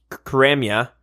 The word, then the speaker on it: Karamja: Sarum to go to Karamja. I think it's pronounced Karamja. I heard that. Really? Anyway, yeah, the J is silent.